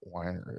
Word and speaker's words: Weiner: Is it Weiner? It's pronounced Weiner, yeah. Okay, because it's spelled. At least that's how I've always heard it.